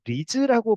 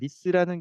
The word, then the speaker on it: RISS: 누군가는 또 리즈라고 발음을 하시는 것 같은데 정확하게는 리스라는 게 공식 표현이고요.